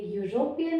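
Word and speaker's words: European: तो ये यूरोपियन है, तो इसका प्रोनाउंसिएशन किससे शुरू होता है? यू, एंड य इज अ कॉन्सोनेंट साउंड।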